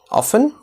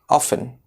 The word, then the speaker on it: often: Often? Often? Well, in this case, both the pronunciation are correct. But the more popular one is where the T is silent. Often.